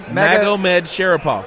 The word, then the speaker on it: Magomedsharipov: Zabit, how do you pronounce the name? Magomedsharipov.